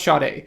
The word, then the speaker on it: Sade: talked about this artist out loud but uh Sade yes Sade yeah spelled black Sade but yeah pronounced shot a yes uh debut album dominant life uh I